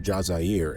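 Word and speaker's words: الجزائر: DZ refers to Algeria, pronounced Jazier in Arabic, the country of origin for many of the clan's leaders.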